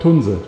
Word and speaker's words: Tunze: In German it's called TUNZE.